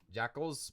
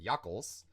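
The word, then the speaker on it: jakkals: my name um Jack Jackal or I pronounce that Jackal but actually it is pronounced yuckles yuckles is actually the Africans word for fox for Fox and that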